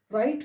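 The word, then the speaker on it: write: Answer नहीं पढ़ा जाएगा, आंसर पढ़ा जाएगा, राइट पढ़ा जाएगा, ना कि राइट पढ़ा जाएगा। तो याद रखेंगे, आर से पहले डब्ल्यू आने पर साइलेंट, एस के बाद डब्ल्यू आने पर साइलेंट।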